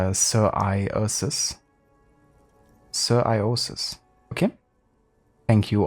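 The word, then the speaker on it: psoriasis: genetic disease or something it's usually pronounced sir iosis sir iosis okay thank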